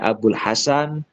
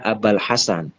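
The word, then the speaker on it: أبا الحسن: Di sini dibaca Abal Hasan. Kenapa dibaca Abal Hasan? Karena menjadi ba badal.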